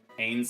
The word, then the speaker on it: Ains: Ains like trains.